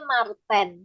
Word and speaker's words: Marten: ada temannya lagi namanya Marten Wah Marten apa Martin ini bacanya Martin ya Martin kemudian ada kumbang